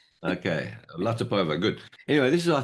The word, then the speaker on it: Latypova: That's the pronunciation because it's not Ukrainian, it's Tatar actually. Okay, Latipova, good.